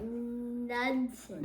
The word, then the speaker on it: Knudsen: Well, the K is silent. So what is Okay, it? Knudsen.